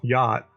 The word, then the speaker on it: yacht: of of the boat yacht is y-a-c-h-t which but it's pronounced y-o-t which is always kind